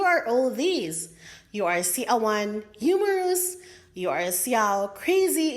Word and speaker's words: siaw: It is spelled as S-I-A-W and pronounced in 2 syllables as siaw, siaw.